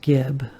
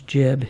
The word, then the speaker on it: Gibb: not like the brothers Gibb like a Barry Gibb it's not like that it's jib it's actually the word jib but it's spelled Gibb same thing but minimal